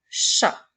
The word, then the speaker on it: chat: La lettre T est une lettre muette, puisqu'il n'y a pas de E pour faire chanter la lettre.